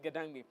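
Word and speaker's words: Ga-Dangme: Anyway, that's how it's pronounced, right? Gadangme.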